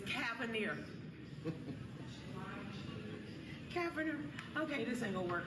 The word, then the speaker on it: Cavender: Cavender. Okay, this ain't gonna work. I'm country. Go ahead and pronounce that. It's Cavender. Yeah. It's like lavender. Yeah.